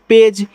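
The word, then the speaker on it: page: पी ए जी ई इसको पढ़ते हैं पेज क्योंकि देखो पी से प हो गया तो ए के बाद एक लेटर छोड़ के इ है तो ए का उच्चारण ए की मात्रा और जी से आपका यहां पे हो जाएगा ज पेज और राष्ट्र वाले ई का उच्चारण करोगे नहीं तो पेज का मतलब आपका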